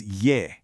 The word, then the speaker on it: 噎: The second character is ye.